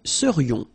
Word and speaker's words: serions: And then this is this yon, yon. Remember, it goes in your nose. It's nasal. Yon. Nous serions.